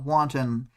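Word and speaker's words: wonton: um and then tekon corrects their pronunciation again uh wanton like wanton destruction um but you know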